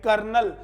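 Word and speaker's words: colonel: वो जो कर्नल होता है ना बच्चों उसकी स्पेलिंग होती है सी ओ एल ओ एन इ एल यानी कि कर्नल और हम इसको याद करवाते हैं बीइंग अ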